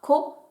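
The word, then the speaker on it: 子: Ce kanji se prononcera ko, et c'est celui que vous retrouvez dans kodomo.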